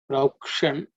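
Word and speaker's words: प्रौक्षन्: Proukshan that ksha also cerebral sha.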